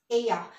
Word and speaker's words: ella: Remember in our abecedario, double L is Y, so it's ella. It's not ella.